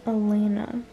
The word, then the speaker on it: Alena: want to tell you guys my name is Elena uh Elena Elena last name no